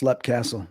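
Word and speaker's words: Leap Castle: Is it pronounced Lep or Leap? Yeah, it's a very good question. Lep. They call it Lep. I want to say Leap, but it's Lep Castle.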